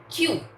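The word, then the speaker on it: queue: क्यू यू नहीं करते हैं. इट लुक्स फनी बट इसका प्रोनाउंसिएशन क्यू है सिर्फ.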